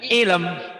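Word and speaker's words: علم: min ilm ilmnya tapi jangan jangan ilm jangan jadi e gini Bu pengucapannya ilm itu 100 mimnya setengah setengahnya 50% jadi gini Bu Min Min ilm hampir nyaris tak terdengar jadi hanya terdengar oleh kepala kita oleh telinga kita dan dan orang yang ada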